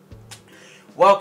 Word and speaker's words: whelk: gonna say welcome that's how you say it welk is very common overall i catch a lot